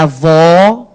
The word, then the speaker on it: avó: Então, vó aí, da palavra avó, é a sílaba tônica de som aberto.